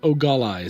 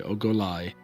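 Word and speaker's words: Ogolai: my notes no no it will go with ogallala sorry oh goliath and and it's spelled o-g-o-l-a-i lie okay and and she is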